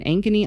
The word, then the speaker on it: Ankeny: And then on the 6th, I'll be in Ankeny, Iowa. I'm not sure if that's how you pronounce it.